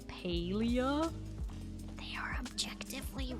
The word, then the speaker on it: Palia: Says paleia. It's not paleium that you harvest from the rocks. Palium. Paleia. Like palia better. Exactly. I know. The devs for some reason insist that their game is pronounced differently.